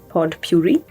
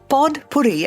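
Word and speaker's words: potpourri: the word pod Puri pod Puri I I know a lot of people kind of swallow the D when they say it yeah poy poy poy but I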